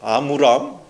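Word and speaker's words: 아므람: 좀 힘드네요 없어 예 아브라함과 아브람이 아니고 아무 람 아무 람과 요게 100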